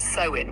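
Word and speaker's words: Samhain: The roots of Halloween lie in the Celtic festival of Samhane pronounced sewin which predates Christianity and was observed by ancient druids.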